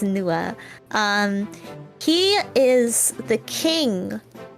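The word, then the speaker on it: Nuadha: it's fun it's NAA it's one of those funny things where the DH is silent so the DH is silent so it's NOA um he is the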